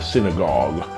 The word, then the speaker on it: synagogue: Barnabas says you have to open your mouth and go, oh, and that's how you say synagogue.